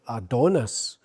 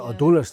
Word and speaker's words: Adonis: Plus as well what you what we found is when we were uh in Australia, Australians were pronouncing it Adonis. So while we were Adonis, they pronounced it adonus.